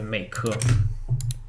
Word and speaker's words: Meike: How do you pronounce this? Meike, Mike. That's actually Meike.